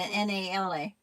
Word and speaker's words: Nala: How do you pronounce it? The N A L A Nala.